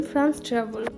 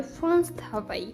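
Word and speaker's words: France Travail: কারণ এটা যদি আপনারা উচ্চারণ করতে চান তাহলে উচ্চারণ করবেন ফ্রান্স ট্রাভেল কিন্তু এটা কিন্তু ভুল কারণ এটা ফরাসিতে বলা হয় ফ্রান্স থাবাই তো এখানে এই অফিসটাতে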